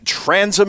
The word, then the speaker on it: Transom: Also has a newsletter called The Transom. Am I pronouncing that correctly, Ben?